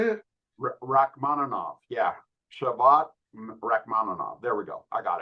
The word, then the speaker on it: Shavkat Rakhmonov: Yeah, Shavkat Rakhmonov.